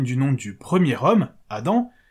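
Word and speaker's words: אדם: nom du premier homme Adam qui en hébreu se prononce Adam Adam Adam la Torah reprend donc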